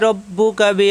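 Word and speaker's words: رَبُّكَ: কোন দেরি করা যাবে ফালা রব্বুকা রব্বুকা কোন দেরি করা যাবে না রাব্বুকা হবে না রব্বুকা এই পর্যন্ত কোন দেরি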